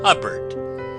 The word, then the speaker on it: Hubbard: this is wonderful Dame Hubbard name that always rhymes with cupboard ever going out to